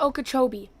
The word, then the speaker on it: Okeechobee: It's Lake Because they're- Okeechobee. It's Lake Okeechobee.